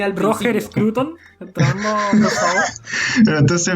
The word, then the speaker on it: Scruton: Dije Scruton y No, casi me aquí muero. hay que ser hispanista tradicional y si se escribe Scruton, se dice Scruton.